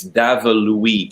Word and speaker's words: Daveluy: last name it's uh it's even hard for those who are french speaking in quebec to pronounce my family name it's uh you know if you kind of say it in an english with an english way it's david louise like louis the fourteenth you know devil weep